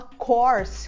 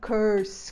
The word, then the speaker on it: course: Mas a palavra curso se fala course com O aberto, o mesmo O que a gente usa em vovó, no final de vovó. Então, course e não curse com esse a.